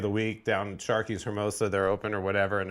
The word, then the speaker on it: Hermosa: Somebody no, said, Dennis Rodman stop pronouncing the H in Hermosa Beach, Bartz.